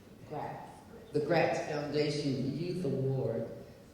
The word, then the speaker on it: Greitz: Claudette is deeply honored that the foundation has chosen to name the inaugural Greatz Foundation, and I'm mispronouncing that, Greitz.